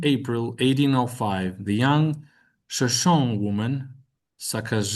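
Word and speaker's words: Shoshone: On 7 April 1805, the young Shashon woman Saka Shashon Shash make give that ne sound at uh at the end of the word um some voice shash woman Saka set out with Merryweather Lewis.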